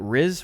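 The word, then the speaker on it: Rhys: to pronounce this name r-h-y-s is that riz reed reese probably greece all right i think that's a reese right there's like reese like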